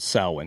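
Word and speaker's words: Samhain: church but originally the pagans it was called sawin and it actually looks like Sam ha is the way it's reads phonetically so we're going to talk about okay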